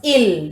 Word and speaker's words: il: Don't pronounce it as ils. It is il only.